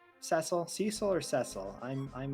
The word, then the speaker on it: Cecil: yeah um yeah i would not say twitsy is a valid pronunciation of cecil oh dear well